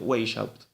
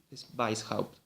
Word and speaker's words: Weishaupt: ejemplo de adam weishaupt que algunos pronuncian way out pero bueno como en alemán es un apellido compuesto vice house adam weishaupt y si el creador